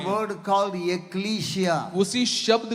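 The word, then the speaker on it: ekklesia: A word called एक्लीशिया।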